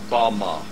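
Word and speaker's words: במה: The Hebrew word used in this text for the heights from which Satan fell is Strong's Hebrew word 1116, pronounced Bama.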